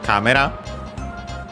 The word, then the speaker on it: カメラ: Then we have camera. We have already seen it, of course. Camera from English, and accented also on ka as expected, the first syllable.